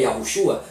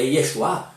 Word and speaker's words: Yahushua: O nome é Yahushua, não é Yeshua, não é Yeshua, não é Yesu, não é este nome, esse nome Jesus.